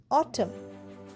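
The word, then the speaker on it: autumn: এ ইউটি ইউ এম এন অটম। অটমে দেখো লাস্টে এম এর পরে এন আসছে। তাই এনটা উচ্চারণ হচ্ছে না।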